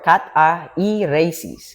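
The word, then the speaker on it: καθαίρεσις: The Koine Greek word, the original word that has been used by the vessel of God is catharesis or catairesis. Catairesis. Catairesis, that's the pronunciation.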